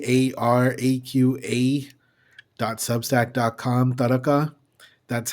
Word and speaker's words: taraqa: Taka, that's how you pronounce it.